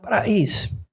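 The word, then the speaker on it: πραΰς: Se escribe pra e is, pero se pronuncia pra is. Y esa es exactamente la misma palabra que usa Jesús en Mateo 11 para describirse a sí mismo, praus, humilde.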